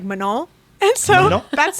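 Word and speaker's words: Manon: saying that they laughed at the way we pronounced Manan and because she's French and they don't say like the hard end so it's like manol and so that's how I've been saying it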